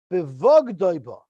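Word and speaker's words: בבגדו בה: Rabbi Lazar Aimer, Bevogdoiba. There's no yud there, so we pronounce it Bevogdoi, meaning what's the word for it?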